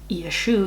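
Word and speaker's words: ישו: refers to someone named yeshu yeshu is how jesus's name is pronounced in hebrew or yeshua yeshua what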